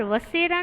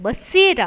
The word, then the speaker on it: बसेरा: यहाँ पर वसेरा नहीं है बच्चों, बसेरा है। यहाँ पर ब है, वह ब है, वो नहीं है।